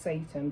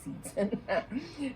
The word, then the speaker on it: seitan: It sounds like that it's pronounced Satan, but I don't call it that, so I say Seitan.